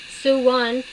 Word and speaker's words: Sone: Okay, so it says a Sone, S-O-N-E, pronounced Suwon, is a hardcore lover